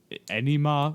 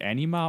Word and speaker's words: enema: And you have Forge asking Beast if he wants an enema. Wait, is that actually how you pronounce it? Is it anima or is it enema? Enema. Oh, enema. Okay.